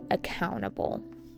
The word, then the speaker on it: accountable: But they should be held accountable. Accountable with an emphasis on the second syllable.